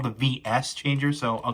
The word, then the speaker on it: VS Changer: which um i know some people like to pronounce as versus changer but in the in the tv series this is actually pronounced the v this is called the vs changer so i'll call the vs structure from every